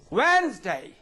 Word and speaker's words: Wednesday: good Hancock handsome right Wednesday and the light so here you also find that letter D is not it is not pronounced all right yes now